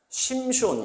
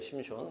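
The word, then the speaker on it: שמשון: 그 삼손을 이제 그 다음 보시면 심숀, 이렇게 이제 히브리어의 심숀. 자, 따라합니다. 심숀.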